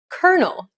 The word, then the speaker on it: colonel: these words for example the first word is pronounced kernel not colonel the second word is pronounced arise